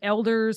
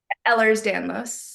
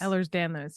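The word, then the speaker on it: Ehlers-Danlos: daughter's um doctor she has um EDS is Elders how do you say it Elders Ellers Danos Ellers Danos yes I know she wear she has rings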